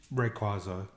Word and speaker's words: Rayquaza: It is Rayquaza, but you can pronounce it either way. Okay. They sort of both count.